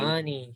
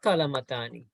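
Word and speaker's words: قلمان: Kalamani, yeah, not kalamatani. That will be wrong, huh?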